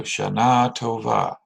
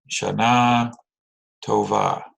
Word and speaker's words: Shanah Tovah: singular becomes Tova so Shanah Tovah right put that emphasis on the last syllable there Shanah Tovah right that's I have a